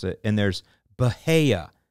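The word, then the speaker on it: Bahia: but either way uh let's just look at it logically b-a-h-i-a okay so if I do that and I say that is it uh if you were a fifth grader in or a kindergartner and you were learning basic consonants and vowels valves vowels you would say bahaya that's what you would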